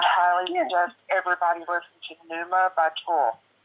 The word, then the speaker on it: Pneuma: It's from their newest album, Dear Inoculum, and I highly suggest everybody listen to Numa by Tool. It's spelled Pneuma, and it means, what is, I think Pneuma, it means the soul, spirit, or creative force of a person.